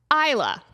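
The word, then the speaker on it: Islay: island off the west coast of Scotland called Isa. And they spell Isa L A Y. I is S L. Hold on. I S L A Y. Isa. For some reason, they pronounce that Isa.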